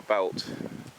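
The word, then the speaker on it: Beult: And the river eventually goes into the river belt. It's spelled B E U L T.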